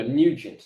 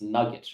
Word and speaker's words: Nugent: Oh, Nugent. I thought it was Nuggets or something like that.